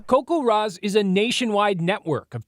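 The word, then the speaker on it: CoCoRaHS: Coco Ros? Coco Rosz.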